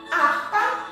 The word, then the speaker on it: harpa: Harpa começa com H. Nós não ouvimos o som do H na palavra harpa, porque o H é mudo, ele não tem som.